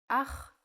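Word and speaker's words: אח: Ach is a brother in Hebrew. Ach. The pronunciation is important. Try to pronounce it more glottally from your throat.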